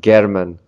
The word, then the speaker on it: Gherman: anything were to happen I don't think I'm pronouncing Garmin right gehrman not garmin that's more of a German name but chairman title was